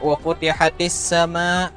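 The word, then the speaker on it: وفتحت السماء: Kemudian saat membaca wa futihatis sama, nah itu ya hati-hati bacanya tadi ke ha. Wa futihatis sama, ya kayak kada sadar memang biasanya, tapi lebih diperhatikan lagi ya. Kalau kita terbaca ke ha berubah artinya.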